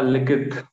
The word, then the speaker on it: Likith: Hello, Likith. Likith, right? Am I pronouncing it right? Yeah, Likith. Likith. Yeah, that's correct.